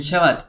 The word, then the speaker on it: Shabbat: De hecho, Shabbat, así como pronunciada con la B como B de, no sé, de burro o de bombero, un poco más fuerte, se refiere al día de Shabbat.